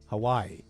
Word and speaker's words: Hawaii: Is that Havi? What is that? They got no kinks protest all the way out here. Hawaii. Havi. How do you say that for realies? Hawaii.